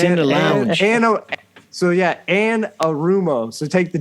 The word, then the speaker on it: Anarumo: Change that last name, Amaretto. No, I never say it right. It's It sounds like a drink I can get down there at the Holiday Inn. Let's go get one. Wait, would you like an Amaretto? Anarumo.